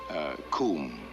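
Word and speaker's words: cwm: Coombe, that is spelled C-W-M. It's a Welsh word meaning glaciated valley or basin.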